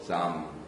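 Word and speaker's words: Psalm: 히브리어로는 테힐링 찬송이라고 하는데 헬라어로는 프잘머이 그래서 어 영어는 앞에 피발음을 안 하고 해 가지고 삼 이렇게 발음을 하고 있습니다.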